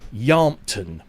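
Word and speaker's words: Yealmpton: And I'm reliably informed by a local of the area, it's Yelmpton. Is that no E is pronounced, so it's Yelmpton.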